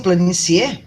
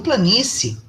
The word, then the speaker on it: planície: Eu pronuncio planicie? Não, eu pronuncio planície. Eu comi uma dessas vogais, falei baixinho uma delas, porque uma é mais forte do que a outra.